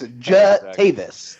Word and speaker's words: Jatavis: Where's the U? Yeah. It's not there. It's Jatavis. I have the same problem with people put an R into my last name all the time. So he has Jatavis Brown having an INT